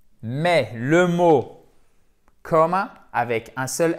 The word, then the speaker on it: comma: C'est une voyelle longue ici qui ne se prononce pas comme un A long. C'est entre le A et le O, mais c'est plus proche du A.